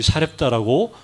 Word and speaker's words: 사렙다: 우리 엘 구약에는 사르 사르밧이죠.이 사르이 사렙다는 똑같은 말이 똑같은 말 그 헬라어로이 사르밧을 그냥 헬라식으로 지명이 살렙다라고 발음하는 거죠.